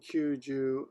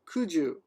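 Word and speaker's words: 九十: And Kyuju, 90. Yeah, I don't see anywhere where it's actually pronounced as ku alone. Only in September, kugatsu. Oh, look at that. 90 is Kyuju or Kuju.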